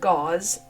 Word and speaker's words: Gause: His name was not pronounced Gaus. It was pronounced gauze as Aaron Jennings who wrote the second article pointed out.